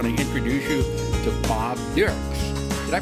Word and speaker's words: Dierks: I want to introduce you to Bob Dierks. Did I pronounce that right? Yes, German sir. Way? Yes. Bob Dierks.